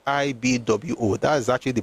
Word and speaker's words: Igbo: I is pronounced IB Wo.